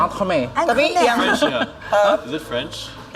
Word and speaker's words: entremet: Misalnya entremet, tapi bacanya entremet.